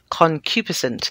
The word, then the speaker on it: concupiscent: of sex series the word i could not pronounce is concupiscent concupiscent it means lustful or horny i had to